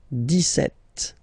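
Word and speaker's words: dix-sept: it's clear but then for the pronunciation d set okay so you don't insist on the s d set d set d set okay then d so you will make this little link between the two the liaison okay okay and the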